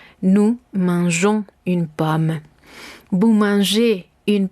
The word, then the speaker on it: mangeons: Si queremos conservar esta sonoridad, vamos a tener que hacer uso de la G. Entonces, verbos que terminen en G-E-R, je-er, vamos a hacer este cambio en la persona nous. Vamos a dejar la E y posteriormente agregaremos la terminación O-N-S, de manera que nos quede el sonido jon.